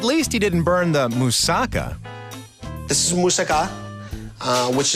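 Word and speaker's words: moussaka: i' I've had better let me say it right what why do you say it it's musaka musaka musaka musaka that's your better am I say right musaka musaka that's right musaka musaka good girl okay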